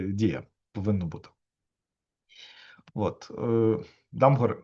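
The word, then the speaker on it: Damgård: От тому MD MD MD хоча насправді дія повинно бути от ее Дамгор, якщо що, данець, бачите цьому, а в кружечку це таких легендарна літера, яка читається як о.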